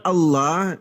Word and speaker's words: Allah: Lafaz Allah itu a l a h dengan pengucapan Allah dibaca tafkhim dibaca tebal. Itu adalah nama Tuhannya umat Islam.